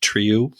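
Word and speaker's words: Trieu: and reminded us that it's pronounced tree you I listen to pal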